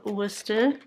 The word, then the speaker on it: Worcestershire: worcester sauce of course i love worcester that is how you pronounce the worcestershire um then we